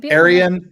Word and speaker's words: Aran: name is it AR Arian it's a Aran the vegetarian see Aran vegetarian oh it Rhymes yes my my my